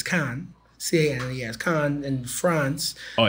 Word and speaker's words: Cannes: It's spelled Cannes, so it's Cannes.